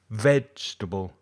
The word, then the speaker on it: vegetable: is stressed comfortable comfortable the second word exactly the same it appears to be four syllables but it's actually only three vegetable vegetable vegetable the last